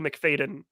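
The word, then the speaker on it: Macfadyen: then pulling out the Golden Globe was Matthew McFadden or Fadden.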